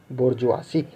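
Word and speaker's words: bourgeoisie: सही प्रोनाउंसिएशन क्या है, बोर्जुआसी।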